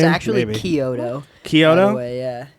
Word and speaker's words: Chiodo: Kyoto.